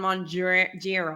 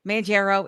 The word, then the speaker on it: Mounjaro: I'm a baker and I'm on Mounjaro. Manjaro in the Manjaro. She always tries to correct it. And I'm like, why? We're leaning in now. It's Mounjaro. fine. Yeah. Midwest, Manjaro.